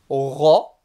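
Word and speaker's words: ر: On le retrouve par exemple dans Surat al-Fatiha, dans Ghayril Mardoubi, le Roin, comme un R français mais emphatique très grave. Et il se prononce également au niveau de la gorge, le Roin.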